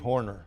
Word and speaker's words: Horner: Today we're talking with Horner. Did I pronounce that right? That's right. Pretty close? It's just like little Jack Horner sat in a corner.